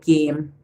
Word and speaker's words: game: How did we get game? The E silent at the end, and most times when